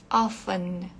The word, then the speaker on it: often: a gente pode usar often ofen esse T aqui é mudo então com frequência frequentemente